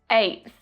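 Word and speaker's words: eighth: Nth, nth, nth, 7th, 57th, 97th, 8th, 8th, 8th. So can you hear that stop T sound at the end of 8 before I make the TH sound?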